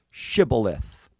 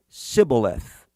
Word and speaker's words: shibboleth: what it is but they could not pronounce the word shibboleth all they could say is sybileth when he said sybileth